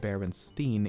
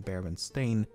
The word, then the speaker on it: Berenstain: name as berenstein and not baron stain i also find it to be the most simple to explain first of all i actually had to re-record lean segment multiple times as i found myself pronouncing it berenstein even when i should be saying bear and stain and i've never even